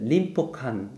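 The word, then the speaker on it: 隣保館: 림포칸 이렇게 돼요.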